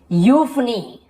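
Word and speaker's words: euphony: ईयू का उच्चारण यू होता है, देखो ईयू लिखा हुआ लेकिन हम उसे यू पढ़ते हैं, जैसे कि यूफनी, हम इसे यूफनी नहीं बोल रहे, यू बस बोल रहे, यूफनी सुरीली आवाज वाला।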